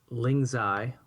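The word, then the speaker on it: lingzhi: uh lingai as they're pronounced in China are anti-tumor, anti-cancer and um they also increase your immune system just like the turkey tail.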